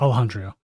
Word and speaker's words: Alejandro: Yeah, that's how you say it, Alejandro.